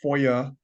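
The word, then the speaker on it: FOIA: there can be uh Foya that's that's how that's pronounced Foya requests that have to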